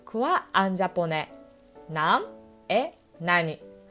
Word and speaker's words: 何: Après nan, il y a une lettre t ou d ou n. Par exemple, nan desu ka, il y a des prononciations. Un autre exemple, nan no hon desu ka, il y a la prononciation de n. Par contre, dans une phrase avec COD, il y a toujours o. Ce n'est pas t, d, n. Du coup, on dit nani.